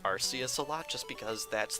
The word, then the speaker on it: Arceus: Sun and Moon, but the Japanese katakana indicates that it would be pronounced Arceus, although I can understand